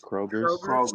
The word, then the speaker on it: Kroger's: So you said it's a Kroger's or Kruger's? How do you say it? I've never heard of this store in my life. Kroger's.